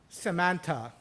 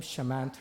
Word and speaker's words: Shamanth: bring himself to pronounce, and he says, Samantha. Turns out there is no Samantha in the audience. Looks up at his notepad and says, Shamanth, which sounds suspiciously like my name, Shamanth.